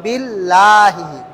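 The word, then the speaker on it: بِاللهِ: ডানদিকে আল্লাহ শব্দের ডানদিকে জের থাকলে জের থাকলে আল্লাহ শব্দ গোল হবে না আল্লাহ শব্দ গোল হবে না যেমন আউজুবিল্লাহি আউজুবিল্লাহি এই দেখেন এটা আল্লাহ শব্দ না এই আল্লাহ শব্দের ডানদিকে জের আসছে তাহলে বি বিল্লাহি বলা যাবে না বলতে হবে কি বিল্লাহি এই দেখেন আলহামদুলিল্লাহি এই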